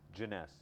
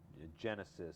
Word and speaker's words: Jeunesse: this is a joke all the time is pronouncing the name of the company everything else Falls in place it's easy janess you know people I've heard people say Genesis or J Jon Jonas it's hard to pronounce it's hard to get